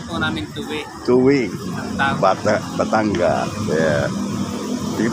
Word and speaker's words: Tuy: Tuwi ba bang ang pronunciation? Bayan po namin tuwi.